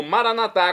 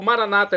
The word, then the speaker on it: maranatá: E agora eu clamo maranatá, como dizemos nós católicos, ou maranata, como dizem nossos irmãos separados das comunidades evangélicas ou protestantes. Não importa a pronúncia, o significado, é o mesmo.